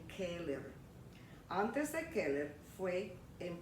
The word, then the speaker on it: Keeler: named streets in English, I'm pronouncing them the way they should be pronounced in Spanish, with the vowels in Spanish, okay? So instead of saying Keller, I'm saying Keller.